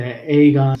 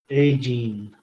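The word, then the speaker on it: Aegean: A Agene. Agene. Sorry, I think I said Aegon. A Gene.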